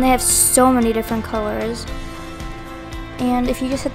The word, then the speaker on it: Coolors: But yeah, this is Colors. It's spelled C-O-O-L-O-R-S, and I will link in the description along with Canva.